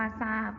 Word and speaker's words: ทราบ: นะ คะ ก็ คือ การ ออก เสียง ทอ นะ คะ เป็น สิน ซอ ก็ อย่าง เช่น คำ ว่า ใส่ นะ คะ คำ ว่า ทราบ อ่าน ว่า ทราบ นะ คะ ทราย อ่าน ว่า ทราย แทรก อ่าน ว่า แทรก นะ คะ เด็ก ๆ